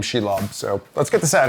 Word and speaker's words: Shelob: What's interesting is that Shelob is actually she for the girl, and lob is Old English for spider, which is super interesting. So I love that name, Shelob.